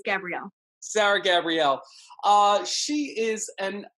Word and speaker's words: Gabrielle: You're saying it right. It's Gabrielle.